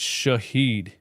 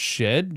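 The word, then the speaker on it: Shead: we got a timeout shed it's pronounced shed Jamal shed yeah I don't think I'm saying that I'm not saying shed bro do you know why cuz that's dumb cuz that's not how it's spelled Shahed where you guys getting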